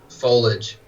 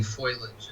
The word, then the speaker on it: foliage: things you know they didn't know how to pronounce foliage you know they were saying foilage and uh they like